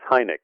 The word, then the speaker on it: Hynek: the chalkboard and say my name is Hynek as in giraffe which i thought was